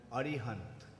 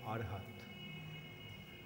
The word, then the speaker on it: Arihant: actually in they consider they pronounce his name as arihant but bhagavatam describes him as King arhat which also means arihant